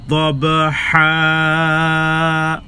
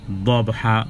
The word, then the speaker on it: ضبحا: আর দবহা এখানে দব, এটাকে কলকলা করতে হবে, কারণ বা জিম দাল তোয়া কফ যখন সাকিন থাকবে তখন তার একটা প্রতিশব্দ উচ্চারিত হবে, দব দব।